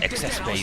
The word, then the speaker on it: XX Beam: And then he got the XX beam which is the pronounced excess beam because it's excessive because it's so stupid.